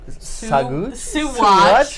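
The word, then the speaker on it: Saguache: So our first land is in Suwatch, Colorado. We just learned how to pronounce that today.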